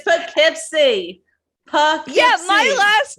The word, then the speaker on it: Poughkeepsie: no we call it this is like poughkeepsie and pow keeps seeing it we have a pout we it's poughkeepsie yeah my last name